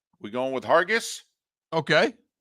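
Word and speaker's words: Hargis: s we going with Hargus okay I'm going with a soft G sound instead of a hard G sound you know going Colin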